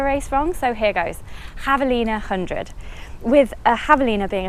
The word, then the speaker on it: Javelina: told by a couple of people that I pronounce the name of a race from so here goes javelina hundred with a javelina being a type of